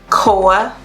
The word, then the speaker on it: Koa: Your girl right here, her name is Koa. Koa is spelled K-O-A.